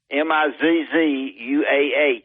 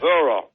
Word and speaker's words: Missouri: Mizzouah. He lived out there. It's M-A-Z-Z. That ain't how you spell it. Missouri.